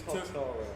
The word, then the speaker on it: Totoro: I got this wrong pronouncing this earlier. So It's it's Totoro.